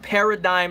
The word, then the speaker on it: paradigm: Zack Smith enjoy joy by the way it's pronounced paradigm not pear not dig'em my bad hey I'm